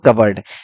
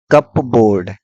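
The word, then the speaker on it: cupboard: ये इसका प्रोनाउंस करते हैं कबर्ड। दिखने में लग रहा है कि कप बोर्ड, ये कप रखने का बोर्ड नहीं है, ये है कबर्ड, अलमारी।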